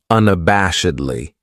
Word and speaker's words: unabashedly: Then we have unabashedly. This adverb has five syllables and the stress is on that third syllable that bash unabashedly. That second syllable has that schwa, that uh sound unabashedly.